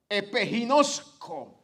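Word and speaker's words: ἐπιγινώσκω: Y esa palabra viene de otra raíz que en el original se pronuncia epiginosco, que quiere decir conocer sobre alguna marca, reconocer, familiarizarse por completo con algo o con alguien.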